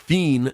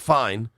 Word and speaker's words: Fien: Gavin Fi, I I believe it's pronounced Fiend, not Fine, is now the number five prospect in the NAT system.